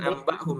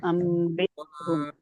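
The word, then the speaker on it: أَنْبِئْهُمْ: Ambihum bukan ambahum tadi Ibu bacanya pakai ba. Harusnya Ambihum.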